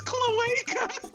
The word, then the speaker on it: cloaca: off, you were pronouncing it wrong. Second off, it's cloaca.